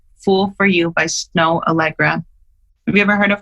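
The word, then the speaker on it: Snoh Aalegra: love and it's called fool for you by snow allegra have you ever heard of her no it's spelled snoh snow allegra and she sounds like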